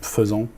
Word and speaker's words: faisant: Par exemple, faisant, en français, FAI, qui se prononce feu, alors que c'est AI pour et.